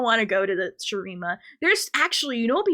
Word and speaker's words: Shurima: I want to do Shimura, I think it's called, the desert place. Shurima. Yeah, that's how you say it, Shurima.